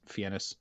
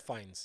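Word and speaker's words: Fiennes: how you say it I always thought it was fenis Ralph Fen anyway Ralph fines yeah it's fines Ralph fines I've heard Ray fines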